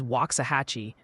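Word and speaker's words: Waxahachie: Loving Tate dropping in with a pronunciation guide for us. They say Bernie is Bernie, Lockahhatchee is Waxahhatchee, New Bronvilles is New Bronvilles, Bernett is Bernett,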